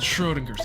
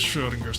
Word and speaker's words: Schrödinger: Anyway, the book's called Schrodinger's Cat.